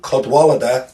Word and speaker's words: Cadwalader: Jeff I always say it wrong alganon codw cadwalader there you go brilliant brilliant Midwest emo more